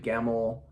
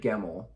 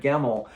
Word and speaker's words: Gemmell: by David gavel David gemmel it's not a hard name to say how did I say his name wrong when I read legend by David gemmel I immediately went online